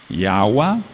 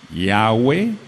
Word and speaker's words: Yahweh: La letra y suena como i y suena como e. La letra he suena como a y suena como e. La letra wav suena como u y suena como o. Tenemos entonces en un principio o teníamos Yahua, Yahweeh yegua ye. Seguimos. Yahua, Yahweeh yegua yeguewe. Las terminaciones con u a u a son ¿qué? Femeninas. tachamos y agua y tachamos yegua.